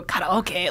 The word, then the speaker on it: karaoke: just say anime or like karaoke you don't have to go karoke like yeah yeah it's kind of a weird if you want to be I guess kind of correct in with how it's pronounced and like I guess